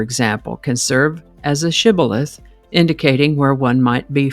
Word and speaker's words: shibboleth: The Gileadites pronounced the word with the sh sound shibilith. But the Ephromites pronounced it cibilith without the sh sound.